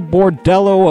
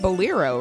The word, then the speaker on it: Bolero: Got the Bordello of Fire. I don't think that's how you pronounce it. Bolero, right? Bolero, yeah. Bolero?